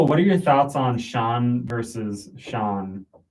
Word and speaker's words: Sean: because I've I've met so many people who pronounce it scene then when they realize that it's Shawn they almost feel mad because it's kind of like a silly move but they're mad at the name.